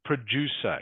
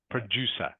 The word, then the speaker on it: producer: word here is pronounced producer can you say that please Chu producer producer good producer producer producer again the C is pronounced like an s producer producer this word